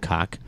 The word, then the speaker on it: Koch: You know, I'm like so the impressed Koch by brothers, that. and you know it didn't used to be pronounced that way. They just got tired of being called Cock. Mr. Cock.